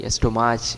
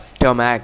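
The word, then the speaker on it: stomach: এটা কিন্তু অনেক গুরুত্বপূর্ণ আমরা কি বলি অস্ট্রোমাচ বলি অনেকেই অ্যাস্ট্রোমাচ স্টোমাচ বা স্টোমাক কিছুই নয় হবে কি উচ্চারণ স্টমাক কি স্টমাক স্টমাক মানে হচ্ছে পেট পেট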